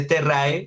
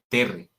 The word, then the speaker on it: terrae: Esos diptongos siempre predomina la E. Entonces, cuando leemos terrae, se pronuncia terre.